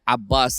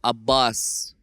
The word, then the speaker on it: Abbas: is and original has I do here a bus a lot I hear Ali a lot but you're taking the pronunciation from the original angle of Abbas Ali we have no excuses